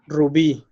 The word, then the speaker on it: rubí: The next one, number 3, is león, rubí. Those have the stress in the last syllable, and they have a